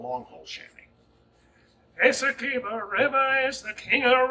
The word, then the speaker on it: Essequibo: This is Essequibo River, or Essequibo. I never do say it right. You say it right. Essequibo.